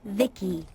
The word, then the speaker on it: VICI: By the way, I'm VICI, pronounced Vicky.